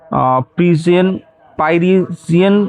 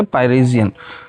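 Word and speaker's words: Pierian: Drink deep और test not द प्रजन परियन स्प्रिंग। ठीक है? पाइरेजियन है ये। मैंने गलत उच्चारण किया। यह है पाइरेजियन।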